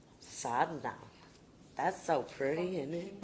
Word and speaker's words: sadhana: Mom to pronouncing sadhana that's the Texas pronunciation so here's the real pronunciation sadhna that's so pretty isn't